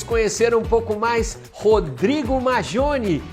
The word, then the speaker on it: Maggione: Brasileiramente falando, Maggioni. Porque é um sobrenome italiano. Isso, mas a pronúncia correta é Maggioni.